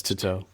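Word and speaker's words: Tautou: Yeah, it's Tuto.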